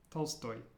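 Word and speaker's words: Толстой: one liat means Summers how about this one Tolstoy Tolstoy any guesses that's right it's Tolstoy Tolstoy and watch your stress because in Russian the stress is at the endstoy Tolstoy in the last one previous means okay let's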